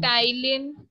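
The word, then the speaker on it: ptyalin: टाइलिन silent है इसमें, टाइलिन एंड और अमाइलेज.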